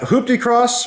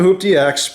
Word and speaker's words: HooptieX: at the event was that hooptie cross which is the right the right way to say it i've been calling it hoop dx but i learned my lesson after talking to everyone that it's actually hooptie cross so sorry about that